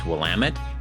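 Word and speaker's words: Willamette: from Hawthorne by the way the river is pronounced wamit the street is pronounced cooch Street and the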